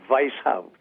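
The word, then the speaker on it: Weishaupt: h au PT clinic a correct pronunciation would be vice hub as if it started with a V the German W is really always a V okay so I hope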